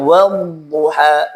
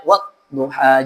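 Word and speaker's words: والضحى: Wadduha. Wadduha. Jangan sampai kita membacanya wadduha. Jangan sampai dihen hentak. Jadi tidak boleh dihentak huruf dadd, tapi dialirkan.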